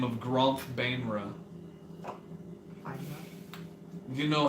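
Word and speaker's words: Baenre: But not too long ago, another archmage by the name of Gromph Bainra. Grump. Gromph Bainra. Grandpa. Got it. Bainra? Bra? B-A-E-N-R-E. Van Bra. Bainra? Bainra. Bongra. B-A-E. Beanra? Bungalow. It's Binra. Banera.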